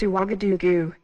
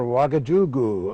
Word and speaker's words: Ouagadougou: I hope I can pronounce this right. It's Ouagadougou. Right you are, Ouagadougou.